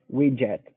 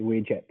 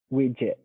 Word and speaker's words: widget: a i widget widget widget yeah okay and and again uh an american is usually not going to pronounce the t at the end we're going to say